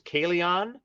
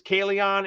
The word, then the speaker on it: Kalion: No, I toyed with it, and even the main character's name, main character, if you know how to pronounce the way I pronounce it, is Kalion. So his name is Kalion, and what do they call him throughout the book?